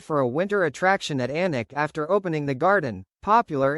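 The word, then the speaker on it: Alnwick: When we started the Anic Garden, no journalist could pronounce Anic." They all said alenwick.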